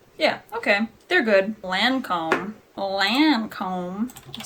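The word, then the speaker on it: Lancôme: I could've swore yeah okay they're good Lancome Lancome you say it like a hick test on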